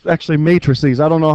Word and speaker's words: matrices: that word is Matt races but it's actually matrices I don't know how the English language why it's supposed to be pronounced that way everybody says math doesn't make